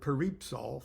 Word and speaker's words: Peripsol: And I use the word peripsal, for example, which means heavens.